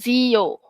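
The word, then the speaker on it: zio: Dia Z ni sebut sebagai bunyi yang buzing tu. Bukan bunyi ts macam S. Bukan bunyi dia adalah zo. Z bukan se. Okey adik-adik ah notice tak ada the difference. Okey dia zo. Z bukan se bukan s.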